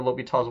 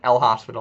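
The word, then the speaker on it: L'Hôpital: dubious as to whether l'hopital's work Lobby 120 rule will work or not okay it is pronounced l'hopital it is not pronounced like l hospital or something like that this is this is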